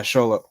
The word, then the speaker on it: Xolo: Xolo Mariduena. Yeah, Sholo. Okay, so that's how you pronounce it.